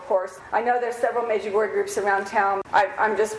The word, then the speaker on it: Medjugorje: Medjugorje, that's the way Mickey, our tour guide, pronounced the name of his hometown.